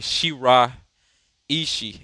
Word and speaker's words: Shiraishi: for or she sorry shira ishii is how you say shiraishi is the point for